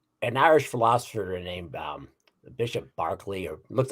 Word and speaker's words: Berkeley: An Irish philosopher named Bishop Berkeley, or looks like Berkeley, but they pronounce it Berkeley.